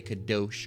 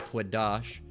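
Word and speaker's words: קדוש: This is the word, they're going to say kadosh, all right, but it's quadash.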